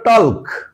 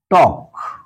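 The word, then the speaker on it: talk: pronunciation হচ্ছে নো একইভাবে আমরা যখন লিখি টি এল কে এর উচ্চারণ হতে হতো টলক কিন্তু আমরা কি বলি টক একইভাবে আমরা যখন বলব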